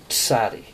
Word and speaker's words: Tsadi: TS is your sound. A-D-E-E. Some people spell it T-S-A-D-E-I. But it is your T-S sound. Tsadi.